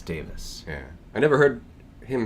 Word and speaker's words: Davies: We should, I recently discovered, apparently it's Davis, by the way. Really? Apparently it's Ray Davis. That's how that's pronounced.